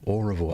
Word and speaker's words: Oroville: Oroville.